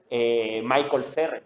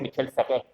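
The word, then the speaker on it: Michel Serres: Yo leí el contrato natural y le decía Michael Serre, ¿no? Y fue ese ridículo que descubrí que es Michel Serre, ¿no?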